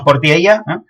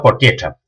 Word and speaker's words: Portiella: Y eso, los pueblos que diz, sí, y Portiecha, Cristina, con la chavaqueira, pero nosotros diríamos Portiella, pero sí, pronunciado Portiecha.